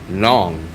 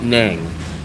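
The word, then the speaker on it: Nẵng: So the guy told me I'm right. Nong not nang.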